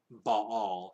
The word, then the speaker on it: Baal: into two syllables so you're supposed to say um ba'all as if it were two separate syllables and not not dips on it because normally if you have two letters like that you would dip on it where you slur them together into a single sound right but the breathing